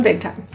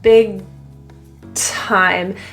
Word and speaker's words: big time: As you link big and time, the G is generally not released, so it kind of just stays in the throat. Big time. The air is then released at the T.